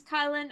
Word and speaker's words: Kylin: My name is Kylin, otherwise known as Kyle with an N.